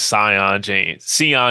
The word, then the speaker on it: Sion: But the biggest pickup I think that we made in the portal is Sion James. That's how you pronounce his name.